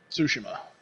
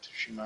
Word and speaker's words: Tsushima: we are in tsushima sushima what they've been pronouncing in the game so tsushima yeah it helps if you like kind of